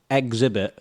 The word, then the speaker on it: Xzibit: Exhibit, like an exhibit, but with an X.